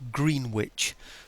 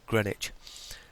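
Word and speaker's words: Greenwich: it yep over to grenwich and those people that don't speak English as a first language it's spelled green witch by the way it's just that we call it Grenich um okay those into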